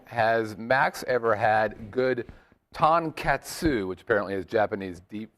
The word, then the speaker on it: tonkatsu: kissaten just it's like you have to it's tonkatsu is how you pronounce it of course I set the bar